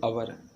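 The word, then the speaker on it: hour: देंगे एन इसके बाद इसको पढ़ते हैं अवर इसको क्या पढ़ते हैं अवर तो इसमें भी क्या भर देंगे एन क्योंकि एच यहां पर साइलेंट होता है अगला क्वेश्चन देखते हैं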